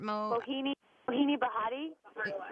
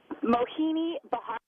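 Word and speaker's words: Mohini Bhardwaj: Mojave Desert, Mohini Bahati. Bahardwash. I was so off. Mohini Bahardwash. Call her Mo.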